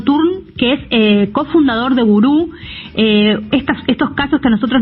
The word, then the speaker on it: Wúru: Mirá, Gurú se dice porque tiene el acento en la U.